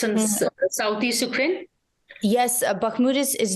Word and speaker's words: Bakhmut: But as we speak, I think there is action at Bakhmut. Have I pronounced it right? Yes, you have. Bakhmut.